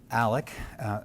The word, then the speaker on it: Alec: Well, first thing is important to say is my name is Alec, spelled with an X but pronounced with a C, Alec.